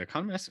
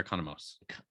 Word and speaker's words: Economos: Is it Economist or Economos? I always heard it as Economos. Yeah, it's spelled with the MOS at the end. Okay, so Economos.